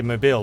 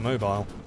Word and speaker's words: Mobile: does americans pronounce this it's a french name so i want to say mobile but i think they might call it mobile nepal is capitulated to